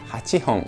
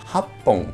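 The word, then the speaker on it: 八本: sería Roppon, 7, Nanahon, 8 tiene 2 pronunciaciones y una es Hachihon y la otra es Happon, que curiosamente parece que estamos diciendo Japón, ¿no?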